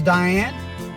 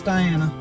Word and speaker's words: Diana: She goes, Diane? I said, no, it's Diana. She looks again. She said, I don't have Diana. I said, okay, then it's Diane. And it was. That's she's pronouncing Diane. It has an A on the end. That is Diana.